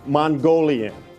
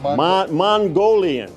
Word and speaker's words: Mongolian: Mongolian. I was told I mispronounced that. Mongolian. You got it, Bob.